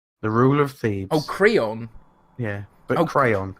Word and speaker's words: Creon: rule of theme Oh Creon yeah but I'll pray on the drama teacher said it's pronounced crayon apparently first okay it's